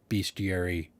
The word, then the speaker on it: bestiary: stream this week that apparently the American pronunciation is beastiary but it's spelled bestiary I don't know I'm just going to say bestiary and if I'm wrong